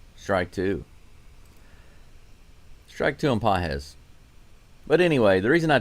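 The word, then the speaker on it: Pagés: Hunter Brown is now facing Pedro Paget.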